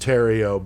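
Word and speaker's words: Thériault: It's a Canadian or it's a French name, but it's pronounced Terrio, but it's not that guy, in case you're old like me and remember that dude.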